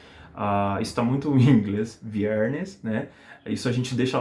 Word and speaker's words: viernes: Ou você fala vierne com o S aspirado, isso é típico na Venezuela, no sul da Espanha também, né? A gente aspira o S nas palavras. Ou vocês podem pronunciar com S normal, normal e corriente, que a gente tem aqui mesmo em português, que é viernes, viernes, viernes, tá?